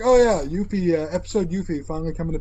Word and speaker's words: Yuffie: if they're like, oh yeah, Yuffie, episode Yuffie finally coming to PS4.